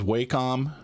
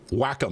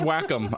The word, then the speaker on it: Wacom: Oh, and so on a tangent, we used to argue about the pronunciation of that, right? I used to say it was Wacom, and other people would say.